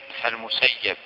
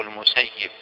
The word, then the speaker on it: المسيب: وهل تنطق كلمة المسيب أو المسيب بالفتح أم بالكسر؟ يصح الوجهان كما أشار النووي رحمه الله في شرحه على صحيح مسلم، يصح أن تقول هو ابن المسيب أو ابن المسيب، لكن الأفصح والأشهر كما